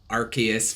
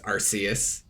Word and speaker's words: Arceus: was gonna be pronunciation arceus versus arceus because when i watched the japanese trailer they pronounced it with the soft c but the english trailer